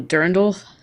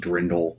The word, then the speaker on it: Dirndl: Oh, Durndal? Yeah, that looks Yeah, good. she found it already. Dirndl, DIRNDL, or I think it's pronounced Drindle, but Is it really?